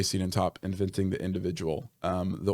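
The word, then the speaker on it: Siedentop: pronounce his last name I think it's Larry seeden toop uh um can we pause right all right resume we just paused and I checked it is Larry cenen toop inventing the individual um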